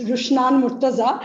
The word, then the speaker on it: Rushan Maaza: very much um and Well Done uh in pronouncing my names it's rushan maaza but you've done very